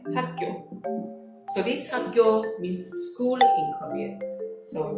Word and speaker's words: 학교: It's weird, but how to pronounce it is actually 학교, 학교.